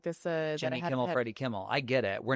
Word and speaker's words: Freddie Kimmel: Um Freddy Kimmel. Yes. Not Jimmy. Freddy.